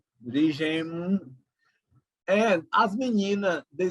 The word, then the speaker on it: as meninas: In Portuguese, we don't say as meninas, the girls, but as menina. So the final S is not pronounced.